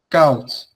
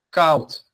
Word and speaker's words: koud: But it's pronounced the same as the OU in English. Blauw coat. Koud.